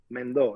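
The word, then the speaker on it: Mendó: Mendo. It spells Mendo with an accent on the O.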